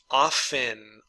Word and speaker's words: often: normal obey obey obeyed often often now you're going to hear some people saying pronouncing the T this is not correct but you're going to